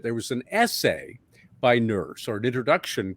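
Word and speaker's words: Nourse: man named alan e nurse it's pronounced nurse but spelled n-o-u-r-s-e and ironically he was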